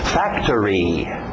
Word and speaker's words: factory: Factory, factory. Pronúncia rápida, o final parece árvore. Tree, factory, factory, ok?